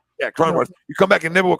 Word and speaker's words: Cronenworth: Yeah, Cronenworth.